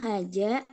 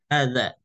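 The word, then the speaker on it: هذا: Hanya saja untuk huruf zal ya hadza bukan haja karena haja itu jim ya nanti apa latih aja anu pengucapan zal.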